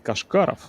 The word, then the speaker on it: Кашкаров: Тимофей, наверное, все же правильнее будет ударение поставить Кашкаров.